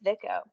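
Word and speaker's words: Vicco: So, Diana, how would you pronounce the first one? I hope I have this right. I'm pretty sure it's Vico.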